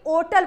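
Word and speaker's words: hotel: होटल, होटल को होटल नहीं ओटल पढ़ा जाता था, पहले ऐसा किया जाता था, होटल को ओटल पढ़ा जाता था।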